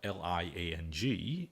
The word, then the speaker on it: Liang: And to avoid them getting confused why it is spelled L-I-A-N-G and pronounced Liang, I started to spell my name L-E-O-N-G.